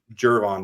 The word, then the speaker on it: Gervon: And you've got Andrew Billings, Gervon Dexter. I always say it wrong. Is it Gervon or Gervon? I think it's Gervon. Gervon. Someone said George in my comments. I get it like G, like George.